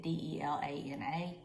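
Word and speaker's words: Delanna: but he insisted it have two n's so it's spelled d-e-l-a-n-n-a i wanted it d-e-l-a-n-a but you know and that's how everybody spells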